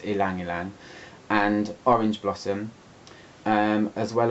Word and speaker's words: ylang-ylang: I've always called it ylang-ylang, but I've recently discovered I've been saying it wrong the whole time. It's ylang-ylang.